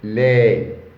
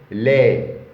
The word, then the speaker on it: lait: écritures du sang Le lait le lait. On ne lit pas le t car il n'y a pas e.